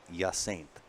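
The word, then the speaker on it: Hyacinthe: n t and then the rest of that h y a c i n t h e is yint yint so my brain cannot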